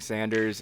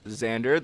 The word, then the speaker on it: Xander: I know in the semifinal match I kept saying Sanders instead of Xander.